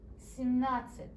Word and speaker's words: семнадцать: Семь, like 1 through 7, and нацать. Семнадцать.